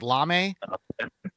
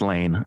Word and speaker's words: Lane: I guess his name is Maybe it's Lame. It's Lane L.